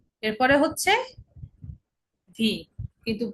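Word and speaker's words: We: ডাব্লিউ কে ডয়েসে বলে ভে। ঠিক আছে?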